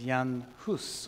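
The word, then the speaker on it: Jan Hus: now is and uh you would say his name was Yan hus or something a bit like that my check is a bit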